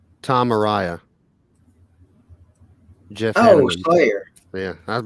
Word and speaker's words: Araya: Yeah, that's the pronunciation. That Araya thing. Yeah. I always, for some reason, wanted to call him Ariye.